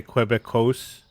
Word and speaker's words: Quebec: Do most Americans say Quebecos?